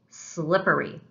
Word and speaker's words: slippery: What is the stressed or strong syllable? Slippery. That's right, syllable number one, slip.